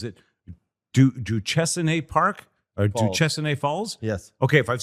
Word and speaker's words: Duchesnay: Duchesnay Falls?